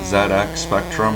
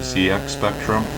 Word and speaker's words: ZX Spectrum: a former british guy i know it's pronounced zx spectrum instead of zx spectrum but what if it